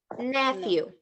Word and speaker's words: nephew: instead of the P instead of the P let's imagine there is an F okay nephew nephew huh perfect so my